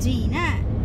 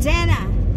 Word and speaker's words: Jenna: Daddy said the name pronounced Gina, so I go on Google Translate and I type in the name, and the lady said Jenna.